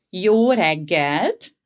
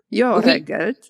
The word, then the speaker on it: jó reggelt: So good morning, jó reggelt. Jó reggelt. Jó reggelt.